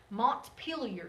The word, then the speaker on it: Montpelier: that's the capital okay Vermont kind of an odd word Montpelier is how you say that Montpelier Vermont Rhode Island